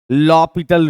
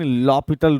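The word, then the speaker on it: L'Hôpital: का हमारा टॉपिक है लॉपिटल रूल लिखा होता है एच सॉरी एल हॉस्पिटल लेकिन लॉपिटल रूल पढ़ते हैं तो हम लोग इसको लॉपिटल इसका नाम है एच इसमें साइलेंट है लॉपिटल रूल या इनटरमिनेट फॉर्म भी कह सकते हो आप।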